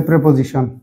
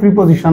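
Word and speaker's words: preposition: সিতে আছে এডভার্ব ডিতে প্রেপজিশন এডভার্ব বিতে প্রেপজিশন অনেকে প্রিপজিশন বলে প্রিপজিশন হবে প্রেপজিশন প্রনান্সিয়েশনে যেমন দেখেন বি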